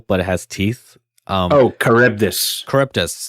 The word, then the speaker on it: Charybdis: Charybdis, thank you. That's how you say it.